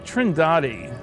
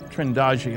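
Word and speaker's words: Trindade: of the picture and here's a sequence from trinidadi trendagi I'm told it's pronounced 600 miles east of the coast of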